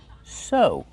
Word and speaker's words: sew: Use the long O sound like no and go. Sew.